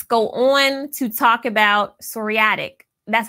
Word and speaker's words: psoriatic: Now let's go on to talk about psoriatic.